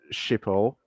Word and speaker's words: Schiphol: Detroit to Schiphol, that's how you pronounce it.